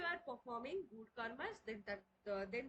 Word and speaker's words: कर्म: कर ओके ना Instagram Instagram 50 pores पढ़वा कर्मा is this कर्मा is that कर्मा means this कर्मा means that तो कौन ये कर्मा जो को हमें pronounce कर्मा but actual pronunciation हो कर्मा तो हिंदू लव